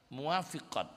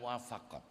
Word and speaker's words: muwafiqat: enggak ada rasa sedih muafiqat bacanya bukan muwafaqat kalau almuwafaqat itu karya